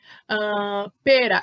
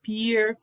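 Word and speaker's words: pear: canudo então é stroberi pera é per Ah tá tem essa pronúncia a gente confunde muita gente fala píer eu mesmo tive muita dificuldade com o nome dessa fruta Mas é perto então lembra da promoção de pé e aí você não esquece como falar pera né pêssego aqui né aquele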